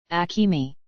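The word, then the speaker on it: Akemi: Alisa's mother's name is spelled with, would sound like Akatsukayami literally, in kanji but pronounced as, Akimi.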